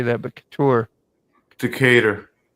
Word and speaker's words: Decatur: Decatur. Decatur. Decator. I knew that. Yeah, that's how I pronounce it. Decatur.